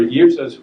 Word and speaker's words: Jirsa: Young Jirsa's yin, I think that was Meta's way of reminding people that the J is pronounced a Y.